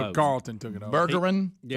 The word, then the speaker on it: Bergeron: His name should be, for us to say it right, Berjeron. Yeah. Bergeron. Kind of like our name. And see, because Burgess should really be spelled with a J.